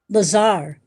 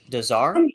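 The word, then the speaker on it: Lazare: Lazar. Dazar.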